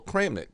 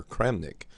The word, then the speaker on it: Kramnik: And then it was probably not, it really didn't get a lot of respect until Kramnik took it up and he began using it.